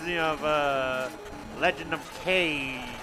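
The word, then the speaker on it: Kage: That ninja kind of reminds me of uh Legend of Kag. Kag. Yeah, that's right. Good call. Sorry, I almost said cage, which is the incorrect way to say it.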